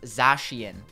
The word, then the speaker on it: Zacian: Pronounced Zacian.